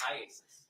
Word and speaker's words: IACIS: called Isis yes how do you say iasis iasis all right I just want to shorten it for you today yes all right so iasis tell us about that program that you went through with iasis to become a digital friend examiner yes the